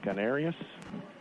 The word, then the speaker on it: Canarius: If that's how you pronounce his name. Canarius Flint is right.